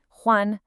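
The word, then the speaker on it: 欢: It's a first tone. That means it's high and flat. Huan, no dipping, no falling.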